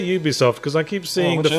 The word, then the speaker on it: Ubisoft: Do you say Ubisoft? I say Ubisoft because I keep seeing the phrase at Ubisoft production, so I assume it has to be the pronunciation has to start with a consonant.